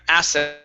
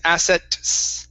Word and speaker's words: assets: right pretty good now when we pronounce this ts okay we don't want to finish that t sound so what you're saying is asset okay it's asset it's together there you go that's it